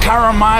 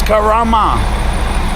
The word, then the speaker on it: Karama: saying a wrong mate it's not Kama it's Karama relax manang lad number